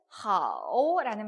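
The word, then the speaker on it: 好: 자, 그러면 우리가 뒤에 하오라는 말이 나왔습니다. 그죠? H와 AO가 합쳐졌어요. 어떻게 읽는다고요? 아오와 흐 발음이 합쳐졌습니다. 하오라고 읽죠. 삼성이 들어왔으니까 하오 이렇게 읽으면 되겠습니다.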